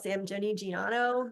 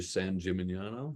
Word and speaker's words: San Gimignano: I like to add syllables. I prefer to call it San Gimignano, but apparently that's not right.